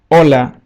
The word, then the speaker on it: Hola: be the word olola Hola which means hello we don't pronounce the letter h letter i in Spanish